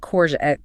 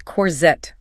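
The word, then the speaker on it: courgette: It's not a hard J sound. It's not cor. It's corette. It requires a bit of a pout. You have to push your lips forward a little bit.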